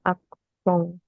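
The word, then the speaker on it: accent: itu namanyasong coba Iya tulisannya Acen bacanya aksong Oh dari dari eh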